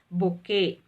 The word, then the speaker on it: bouquet: pronunciation b-y-u-q-u-e-d this is bokeh yeah t is silent over there with a bouquet of